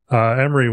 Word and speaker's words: Amiri: Amiri, welcome. That is how you pronounce it, right? Yeah.